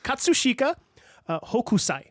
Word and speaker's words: Katsushika Hokusai: an artist named katsushika I'm so sorry katsushika Hokusai I'm pretty sure that's how it's pronounced and it was painted